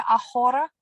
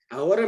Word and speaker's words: ahora: ¿Qué significa ahora? Ahora means now. Now. Sí. Aprendo español ahora. Ahora. The H is silent.